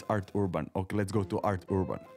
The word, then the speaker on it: Arthurban: It's, oh shit, it's hard for me to pronounce it. Arthurban, it's Arthurban.